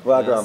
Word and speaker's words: Wagrem: What is a place called in Wagrem? Is that pronounced correctly? Region Wagrem. Wagrem.